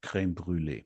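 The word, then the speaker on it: crème brûlée: It's creme brule. And it has to be pronounced the French way.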